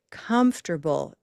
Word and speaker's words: comfortable: But comfortable, comfortable. So first, I use the hand to locate the location of stress. First syllable.